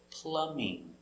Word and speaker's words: plumbing: plumbing experience plumbing plumbing remember the b is silent no plumbing plumbing very good let's